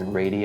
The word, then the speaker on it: radii: And for those of you who don't know, the plural of radius is radii. I know a lot of students see that and they freak out. So radii is spelled R-A-D-I-I.